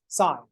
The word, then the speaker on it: sin: now when we write the abbreviation for sine is s-i-n which we pronounce as sine when we talk about